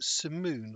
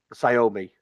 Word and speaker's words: Sayomi: Was it Simoon or something like that? Sayomi.